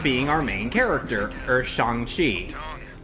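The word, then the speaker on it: Shang-Chi: our main character or shanghi hey yes that's how it's pronounced in the movie you know it's not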